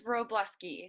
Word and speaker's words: Wróblewski: say your last name it is wróblewski so it's like rowing a boat blast in a church what's good youtube my